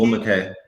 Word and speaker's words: Ogwumike: Ogwumike. How do you say it, Ski? Agumake, Agumake. Agumake, there you go.